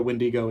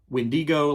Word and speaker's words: wendigo: for this creature right all kinds of different uh spellings and ways to pronounce it there's windigo like how I'm saying it windigo windigo wendo Windu Wago iGo oh I hate that uh windo wio